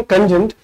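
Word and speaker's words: cogent: सही उच्चारण कोजेंट, जिसका इसका अर्थ है प्रमुख।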